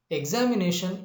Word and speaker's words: examination: For example, examination is a word which has the primary stress on the fourth syllable and the secondary stress on the second syllable. Remember, examination is a polysyllabic word